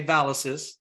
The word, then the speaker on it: Valis: The Valis is difficult to pronounce for many people, and we always tell them, if you can say Pegasus, you can say Valis.